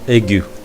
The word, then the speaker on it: aigu: And the first one is accent aigu. And now we're going to see about accent aigu. Generally, we should pronounce this word like accent aigu.